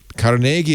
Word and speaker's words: Carnegie: Carnegie is correct.